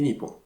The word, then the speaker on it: Nippon: Le Japon est effectivement un des rares pays qui a deux manières de se désigner, à savoir donc Nihon et Nippon.